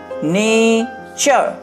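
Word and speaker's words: nature: আর এন এ টি ইউ আর ই, নেচার, এটাকে আমাদের মনে রাখতে হবে, চার, এইভাবে মনে রাখতে হবে, চার, চার, চার। তাহলে নেচার, ফিউচার, পিকচার, এটা কিন্তু টুরে উচ্চারণ হবে না, টুরে উচ্চারণ হবে না, নেচার, ফিউচার, পিকচার।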